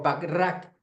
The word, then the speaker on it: Bachrach: penúltimo autor, Stanislaw Bachrach, o Bachrach, como dice que se pronuncia, un neurocientífico argentino que